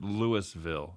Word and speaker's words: Louisville: in Louisville Colorado oh they pronounced it Lewisville in Colorado God okay so do